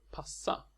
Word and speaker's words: passa: The word passa is just the same, but the S is long. Passa. Treating the double letters as 2 separate sounds to be pronounced might help you remember to keep the consonant long and the vowel properly short.